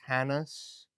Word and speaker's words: Hannes: I think it's pronounced Hannes. Sure. You think maybe Haynes? I've heard people say Haynes. I'm Yeah, sure that's incorrect.